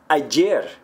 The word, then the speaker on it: ayer: So yesterday, ayer, would be pronounced ayer. Ayer. So some people will say ayer.